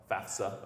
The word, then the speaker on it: FAFSA: it FAFSA, not FAFSA, FAFSA, okay? So I'm giving you a little college knowledge out there, parents, students. FAF, the F comes before the S, FAFSA.